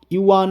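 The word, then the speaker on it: 元: নাম হলো রুপি তাহলে এখানে বন্ধুরা মনে রাখবে ইউয়ান এবং ইয়েন এই দুটির শব্দের উচ্চারণ কিন্তু একই ইউয়ান হলো চীনের মুদ্রা এবং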